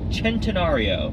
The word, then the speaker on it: centenario: we have the Lamborghini centenario which kind of looks like centenario Centeno it just it looks like centenario but leave it to the Italians for one see a pronounced like a CH it is a supposed